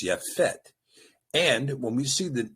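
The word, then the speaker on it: Yapheth: So going back again, you might have read this as Shem Ham and Japheth. Uh but of course that ignores the at the beginning of the word Ham. So it's Shem and Yafett. There was no J in the language. So the name is Yafett.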